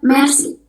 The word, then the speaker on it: merci: Yang kedua ada merci. Merci. R-nya jangan lupa, merci. Ini artinya thank you. Kalau how to say thank you in French, jadi kita ngomongnya merci.